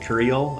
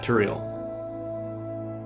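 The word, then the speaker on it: Turael: So the Cristillia streak that gets reset when we go do um was it Curial? I forget how to pronounce the the name of the Tural. Yeah, Turiel. So what was it?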